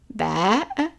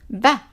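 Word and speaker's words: بَ: fatha to it, and we will pronounce it, guess, ba, ba, not b, b, is only in some dialects. In modern standard Arabic is ba, ba. And the fatha is pronounced as a short A, as in the word sat. Sat is long, but as if we are pronouncing this word here, sat. So it's an A, it's a short A, as in sat.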